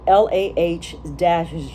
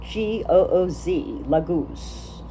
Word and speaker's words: Laguz: It says, Laguz is really how it's said, Lahgooz, Laguz.